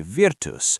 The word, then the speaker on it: virtus: lest we suppose that the two syllables we produce when we say virtus were in him, rather than what is signified by those two syllables.